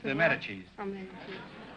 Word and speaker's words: Medici: From Medici. M-E-D-I-C-I. Pronounced Medici.